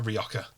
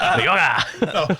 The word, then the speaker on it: Rioja: I can't tell whether I like Rioja or whether I just like saying J's as H's. Whether it makes me Rioja.